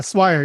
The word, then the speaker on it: Swire: Did I pronounce that correctly? Yeah, Swire.